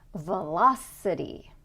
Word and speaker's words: velocity: we're going to have the stress on the syllable before the suffix. Velocity, velocity, okay?